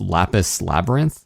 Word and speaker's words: Lapis x Labyrinth: say on the website you don't pronounce the X it's just lapis labyrinth okay so anyhow yeah